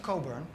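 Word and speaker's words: Cockburn: by a guy called Alistair Coburn spelled co CK burn which for obvious reasons you do not pronounce like that and he says well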